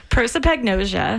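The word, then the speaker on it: prosopagnosia: So but so you pronounce it for me because I'm not going to even try. Proipagnosia.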